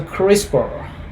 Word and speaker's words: CRISPR: the other organisms dna sequences it's called is pronounced as a crispr uh usually one cas9 is one of such